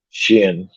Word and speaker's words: Xin: character of the show, Shin. His Mm-hmm. name is spelled. His name is spelled on there Xin.